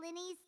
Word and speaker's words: Lyney: Ah, Mr. Lyney. I should say Lyney.